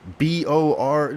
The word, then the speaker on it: Beard: Don't call my My real name is Bor. Okay. Board. Yes. B O R.